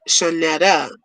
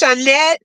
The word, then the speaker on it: Shanette: My name is Shanetta, but Manny pronounce it Shanetta. Or is it Shanette? I'm like, there's no A at the end of my name. And I should say Shanetta, too. So, it's Shanette.